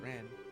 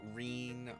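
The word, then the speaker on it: Renne: of the other games it's Ren like the bird are so like not Rene or Renee it's Ren yes that's very important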